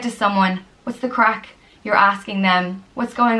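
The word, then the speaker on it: craic: All right, right off the bat, just that spelling, I don't think we would have pronounced it that way. I was going to say like crank. Yeah, crack is how it looks like we'd say it.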